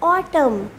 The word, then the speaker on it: autumn: You can clearly watch in the on the screen that in autumn N is silent. We will not pronounce the word N. We will say autumn.